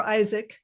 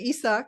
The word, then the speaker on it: Isaac: Danielle Isaac, right? This is Uh-huh. how you pronounce your name? Yeah, or Isaac. Yes. Isaac, I'm Mhm. sorry. Yeah, No, of a lot of course. people say Isak.